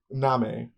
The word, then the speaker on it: Nahme: Yes, it's spelled like name, but with an H. Nami.